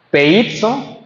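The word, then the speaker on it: πείθω: La palabra obedecer está siendo usada aquí en el griego y se pronuncia, dice, peizo, y que significa confiado, persuadir, tener confianza, convencer mediante argumento, ya sea verdadero o falso, descansar.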